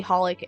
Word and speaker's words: xxxHOLiC: You recently learned that apparently it's officially pronounced as simply Holic and your mind.